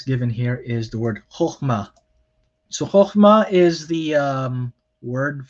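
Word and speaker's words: חכמה: Some people might think that there are three syllables here. They might try to say chokhmah or chachma, but it is not. So it's not three syllables, it's only two, and both syllables are closed.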